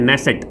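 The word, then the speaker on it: Knesset: हुआ है तो दोस्तों उसको बोलते हैं नेसेट के साइलेंट होता है क्या बोलते हैं नेसेट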